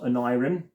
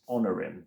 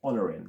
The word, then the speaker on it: Onirim: It is not Onirim, it is Honorim. That's how you say it, Honorim.